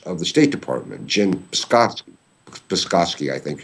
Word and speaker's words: Psaki: The woman who is the face and voice of the State Department, Jen Psaki, I think it's pronounced, almost on a daily basis, says that all Kiev is doing is a rightful attempt to restore law and order.